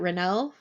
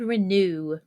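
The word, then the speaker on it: Renoux: Renault? Lord Renew. Renew. That's how Okay. that's how he says it whenever I'm like, is it Renault? And he goes, it's Lord Renew. Renew.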